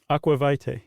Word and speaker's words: aqua vitae: And he's distilled it down to aqua uh How would you pronounce that? Vita? Aqua vitae.